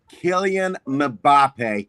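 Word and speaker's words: Kylian Mbappé: In case in case you guys wanted to know how that name is pronounced, Killian Mbappé.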